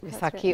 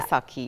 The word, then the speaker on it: Vaisakhi: All right, I want us to get into the Vaisakhi. Am I pronouncing it right? Vaisakhi, right. Or yeah. Vaisakhi, yes.